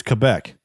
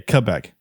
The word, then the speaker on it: Quebec: I've always been told it's Quebec, like with a K, Quebec.